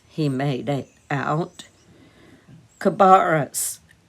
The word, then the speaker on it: Cabarrus: Cabarrus, he made it out. Cabarrus, corrected the stranger, stressing the second syllable and sounding it as in barrel.